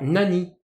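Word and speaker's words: 何: initialement s'éclairant kandji vont plutôt s'écrire encana attention nani va se prononcer nan devant les cannes à qui appartiennent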